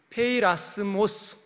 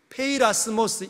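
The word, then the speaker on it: πειρασμός: 우리나라 말로 시험이라고 번역되어져 있는 이 원문은, 헬라어 원문은 페이라스모스, 한번 따라할까요? 페이라스모스. 어떤 집사님께서, 목사님, 페이라스모스 해도 우리가 금방 듣고 적지를 못하니까 한글로 편하게 발음을 적어주십시오, 그러시더라고요. 그래서 제가 알겠습니다. 그래서 페이라스모스, 왼쪽에 보이는, 여러분 여기죠, 여기서부터 이렇게 읽습니다. 페이라스모스, 이 단어는 원래는 영어의 temptation, 유혹을 뜻하는 단어입니다.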